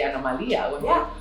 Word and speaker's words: Anomalia: We say Anomalia when someone has a different thing. But you have the same pronunciation, right? Anomalia. It's the same. So it's very easy for Spanish.